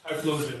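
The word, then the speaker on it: Typhlosion: How do you pronounce that? Tyloian.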